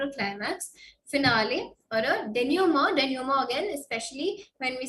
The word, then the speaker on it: denouement: It's a French word. So denouement is how we say it. So more as in MOW जैसा कुछ pronounce करते हैं. Okay, so it's denouement.